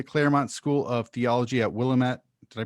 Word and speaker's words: Willamette: willamette uh willamette university well lamit oh i was not going in that direction oh they they have a saying yeah it's blam it damn it so that if that